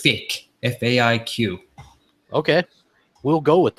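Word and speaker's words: Faiq: We have, I have to pronounce his name properly. It's Fick, F-A-I-Q.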